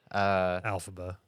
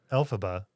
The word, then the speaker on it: Elphaba: Elphaba. I said it right. Right? Yeah, sure. How do you say it? Elphaba. Elphaba.